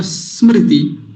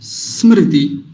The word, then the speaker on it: स्मृति: तो तरीका वही, जैसे स का उच्चारण हम लंबा करते हैं, स, स, अब इसको हल्का करते लाएंगे, छोटा करते लाएंगे तो क्या बन जाएगा, स्मृति, स्मृति। ये तरीका है इसको बोलने का।